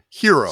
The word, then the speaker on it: gyro: Oh, how do you pronounce the word? Yes. How do you pronounce the word? It's hero. See, Euro.